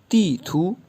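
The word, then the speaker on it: 地图: तीथू। तीथू तीथू अच्छा, फर्स्ट जो सेलेबल है उस पे फोर्थ टोन है और जो लास्ट सेलेबल है उस पे सेकंड टोन है, तो यूँ प्रोनाउंस होगा तीथू।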